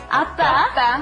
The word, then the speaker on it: 아빠: 아빠. Appa. 아빠. Rhymes with oppa.